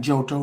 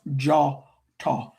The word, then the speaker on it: Djôtô: or it looks like jotto but it's pronounced jawto the o is an a sound and dj in west Africa languages DJ or DI or DW is pronounced with the J sound.